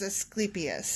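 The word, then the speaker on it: Asclepius: He was Did you look up the pronunciation correct? Yes. I looked it up and it is Eskeipius.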